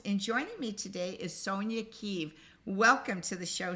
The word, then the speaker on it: Sonja: your first name right is it Sonia or so Sony yeah did I say no you said it right the first time kudos to you you